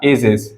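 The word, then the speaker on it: ages: Pronunciation जा करेंगे। चलिए एग्जाम्पल के थ्रू हम समझते हैं। जैसे मैंने एग्जाम्पल में लिखा एजेस, क्या लिखा?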